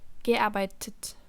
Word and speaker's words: gearbeitet: Portanto, no caso do particípio 2, com essas terminações de radical, um E é inserido entre o radical do verbo e a terminação T do particípio.